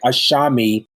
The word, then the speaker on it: Asami: I should say it's it's spelled a-s-a-m-i but it sounds like there's an H there between the with the S so it's like ashami T so but listen I'd